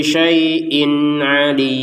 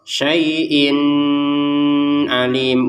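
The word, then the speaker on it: شَيْءٍ عَلِيمٌ: ya bertemu dengan ain apa maksudnya terbacanya dengan ini bacanya dengan jelas apa yang dimaksud dibaca dengan jelas jangan ada dengung contoh syaiin Alim enggak salah ya. Jangan ada jedah saaiin alim juga salah.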